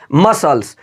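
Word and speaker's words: muscles: आगे देखिए यहां पर मसल्स क्या लिखा है मसल्स यहां पर एस के बाद जो आया सी है वो बिल्कुल साइलेंट होगा बिल्कुल आवाज़ नहीं निकलेगा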